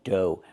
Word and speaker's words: dough: Pronunciation, dough. Make the long O like no and go, and the GH is silent. Dough.